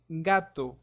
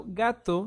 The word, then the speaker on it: gato: the letter c so the first sound is similar to the one in guy and this sound will apply when letter G is followed by the vowels a o and u an example is the word gato gato gato means cat notice how gato sounds like guy gato guy it's very similar so the other